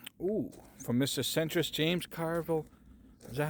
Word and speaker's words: Carville: Centrist James Carville.